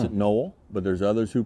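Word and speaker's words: Nol: We pronounce it Noel, but there's others who pronounce it Noel.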